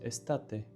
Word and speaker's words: estate: I added a photo that reminds me of how the word is pronounced cuz summer is estate and it's just like estate but for some reason it's difficult for me to come up with this association.